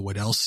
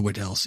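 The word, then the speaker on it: Weddell: You've got the wedca the wed sea depends on who you ask how to say it.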